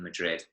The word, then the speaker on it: Madrid: how in in Spain they pronounce a D at the end of the word they're almost like a th in Madrid Lepidus so yeah just